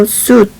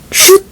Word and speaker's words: suit: 그 다음에 in a suit shoot 아닙니다. shoot은 그 축구 골 쏠 때 shoot 할 때 shoot이에요.